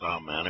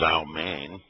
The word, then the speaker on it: amen: I said, well, it really wasn't pronounced amen. It was amen.